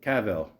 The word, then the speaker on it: Cavill: Henry Cavill. Is that how you say it? Cavill. Cavill rhymes with Jor-El.